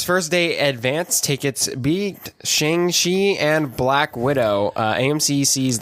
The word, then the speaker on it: Shang-Chi: Said it wrong again, Sam. What? He said Shang-Chi. It's Shang-Chi.